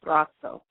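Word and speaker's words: Braco: And I stumbled across a guy named Brazzo. It's spelled B-R-A-C-O.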